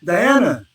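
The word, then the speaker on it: dhyana: so the last two diana doesn't look like it says that but that's what i'm pretty sure that's how you say it diana d white d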